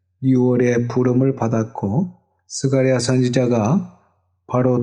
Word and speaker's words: 스가랴: 기억하신다면 하는 뜻입니다 그리고 이 스가랴 는 사가 리아 라고도 발음을 압니다 성경에 나오는 3류 완의